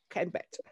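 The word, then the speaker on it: kenbet: I can't pronounce the word Greek. Canbat, is it Canbat?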